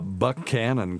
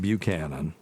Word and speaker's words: Buchanan: then we have uh Buck Canon County here it's not Buchanan Buck Canon that is very true